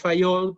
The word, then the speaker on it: Fayol: Todo el mundo le dice a este hombre Henry Fayol, pero en realidad es Fayol porque es francés, ¿verdad? Y se pronuncia Henry Fayol. Henry Fayol. Entonces, pero nadie le dice Henry Fayol porque le ponen la pronunciación inglesa, Henry Fayol.